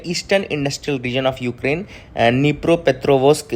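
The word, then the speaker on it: Dnipropetrovsk: तो यहां पे जो हम बात करेंगे वो है निप्रो पेथ्रोवस्क। अह तो यह जो जगह है डेनिप्रो या डिनाइपर में इसको नीस नहीं पढ़ा क्योंकि डी इसमें साइलेंट रहता है।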